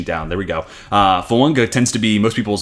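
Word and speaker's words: Fuaga: drafts I see Tois say fanga got that pronunciation down there we go uh fanga tends to be most people's ot2 off the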